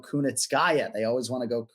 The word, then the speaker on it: Kunitskaya: And I'll give you props for pronouncing Kunitskaya because Ken-Flo, a lot of the Americans respect to you, but they want to go Kunitskaya.